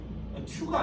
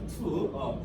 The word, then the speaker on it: to: 튜가 아니고요. 왜 자꾸 지나고 튜라고 그래요? 혹시 이거 우 발음이 혹시 잘 안 돼요? 튜가 아니고요. 자, 투.